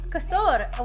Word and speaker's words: Kosor: did a really good job there most cannot pronounce it it's Cur yeah kasur with a r r at the end I